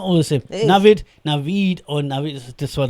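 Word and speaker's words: Naved: N-A-V-E-D. What does that say? Navid.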